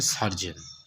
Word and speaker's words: surgeon: শল্য চিকিৎসক মানে যে ডাক্তারের সব থেকে উপরে পোস্টে হয়, যিনি অপারেশন করে থাকেন, বিশেষ করে বলা হয় সার্জেন, SURGEON। যে বাংলায় উচ্চারণটা হয়েছে সার্জন।